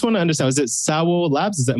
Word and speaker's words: SAWO Labs: it i just want to understand is it sour labs is that like pronouncing it properly just before we get into